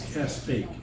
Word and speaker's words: Castaic: up the road, most people refer it as Castaic. It's not. It's Castaic. And You if tell you're them. a out of towner and you, Castaic. Call it right. it is Castaic, has been.